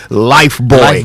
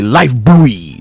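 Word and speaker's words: Lifebuoy: when it comes to life boy. Yeah. In fact, the Americans say life buoy. The British say life boy, but the Americans like buoy buoy. Sounds like bua.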